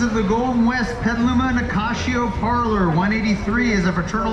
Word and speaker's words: Nicasio: And in case you're wondering, it is pronounced Nicasio because that's Portuguese as opposed to Spanish. It was started by the Portuguese. Portuguese like to put a sh in everything.